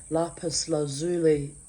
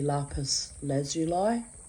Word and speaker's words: lapis lazuli: I wore my lapis lazuli, I still say it the German way because of my mother. So she used to pronounce it lapis lazuli, but in English it's actually lapis lazuli. I wonder which is correct pronunciation.